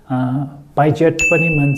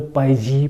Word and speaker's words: Piaget: under constructivism comes learning, teaching & observation this theory of constructivism was propounded by Piaget pronounced as Pi-jet or Pi-zee we have different pronunciation and what Piaget has said is ..